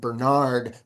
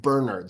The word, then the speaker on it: Bernard: He let me know that his dad pronounced his name not Bernard, but Bernard. So you will hear me say it like that.